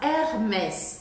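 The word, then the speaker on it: Hermès: boa agora a próxima Hermes isso eu já acho mais chique mesmo Hermes o h no começo das palavras em francês não é pronunciado tá a gente vê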